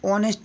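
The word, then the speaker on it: honest: तीसरा है Sita is एन ऑनेस्ट girl, देखिए यहाँ पर ऑनेस्ट गर्ल है, ऑनेस्ट यानी कि यहाँ पर एच अनुच्चारित है, ओ के पहले एच है तो अनुच्चारित माना जाता है।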